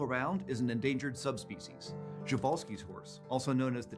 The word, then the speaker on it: Przewalski: And I'm pronouncing it that way because that's how Sir David Attenborough pronounces it, and he gets the final word with me.